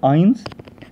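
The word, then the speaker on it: eins: افكرك ان الاي بيتنطقوا زي الاي فبقول اينز. بعد كده الرقم 2 حاول بقى كده تنطقه قبل ما انا اقوله.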